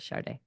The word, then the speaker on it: Sade: I know it's Sada, or DE, but she pronounces it Sade.